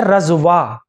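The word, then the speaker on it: رضویٰ: اس سے اگلا نام ہے رضوا، را ہے، زواد ہے، واو ہے، اور یا مقصورہ کے ساتھ ہے، یا کے اوپر کھڑا زبر ہے، رضوا.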